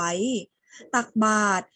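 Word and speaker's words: ตักบาตร: อักษร สี แดง ไว้ ตัก บาตร มี ตัว ร แต่ เรา ไม่ ออก เสียง รอ เรือ ใช่ ไหม คะ ส่วน คำ ว่า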